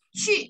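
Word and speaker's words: 去: Terus di sini ada cu. Cu bukan cu ya.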